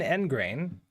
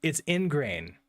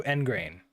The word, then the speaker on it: ingrain: Okay, so there is an end grain. Firmly fix or establish a habit, belief, or attitude. Wait. Is this how to pronounce it? Or is it actually ingrain? Oh, it's ingrain. Also engrain. Oh, okay, so insert.